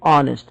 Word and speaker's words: honest: courts and had the reputation of the most honest honest the itch here is silent okay we will not be able to read h honest here we have to say honest the itch here is silent low specialist he was generally interested in